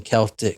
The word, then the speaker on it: Celtic: it's Jen it's Bolton Celtics not Bolton Boston Celtic what the it's Boston Celtics